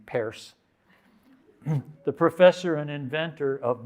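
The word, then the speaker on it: Peirce: and the pragmatists like charles pierce who pronounced his name paris the professor and inventor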